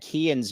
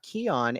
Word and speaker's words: Kean: They actually last year had Kean's name mispronounced in the media guide. I, through some back channel sources, told them that it's Kean, not Keon, and it was changed.